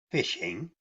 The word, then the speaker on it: phishing: its most basic form phishing pronounced fishing is a scam in